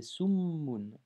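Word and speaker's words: سُمٌّ: C'est pas sumun, mais c'est summun.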